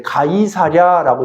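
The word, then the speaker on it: Caesarea: 우리나라 그 성경에는 이제 가이사랴라고 돼 있는데 그건 이제 한국식 발음이에요. 이제 케살이에요.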